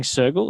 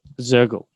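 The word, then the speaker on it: Soergel: So you've worked with some really interesting people, Ben Elias, I think Wolfgang Sergel, is that how you pronounce his name? Mm-hmm. Sergel or Shergel? Zergel.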